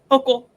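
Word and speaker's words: Hochul: Hok. I'm so sorry. Um and made a joke the other day and it was a good one. I accidentally said Hoel and I'm like I just ruined the joke.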